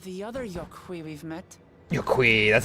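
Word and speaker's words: Yok Huy: Yokhui, that's how you pronounce them.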